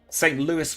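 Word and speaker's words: St. Louis: a spare rib here is it pronounced St Louis or St Louis I want to make sure I'm pronouncing that correctly St Louis with the S Lewis unfortunately what what's so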